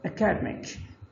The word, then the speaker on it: academic: Stress is on the second, but here stress changes to the third, academic.